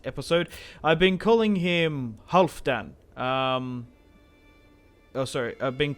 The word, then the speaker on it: Halfdan: the last episode but it's half like valhalla like hull so half done half that's how you say it but yeah my apologies